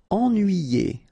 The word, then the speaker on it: ennuyé: Ennuyé. Okay, so first en, then nuit, then yé.